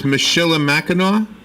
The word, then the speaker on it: Michilimackinac: You are correct, but it's pronounced Mackinac. Oh, okay. So, I never knew that. So it's Michilimackinac?